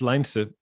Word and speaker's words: Lijnse: i normally say is use the word line and then sir yeah and then that's